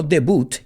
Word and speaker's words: debut: it had its debut let's pronounce that word no debut in english the themos debut and